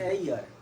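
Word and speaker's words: heir: एच ई आई आर, ऐसे ही है, इसको क्या बोलते हैं? हियर नहीं, Ear. एयर। क्या बोलेंगे? एयर। अगर आप प्रोनाउंसिएशन करना में भूल गए तो यहाँ पे गलती हो सकता है। अच्छा। इसका प्रोनाउंसिएशन क्या होता है? एयर। ए से शुरू हो रहा है, किससे?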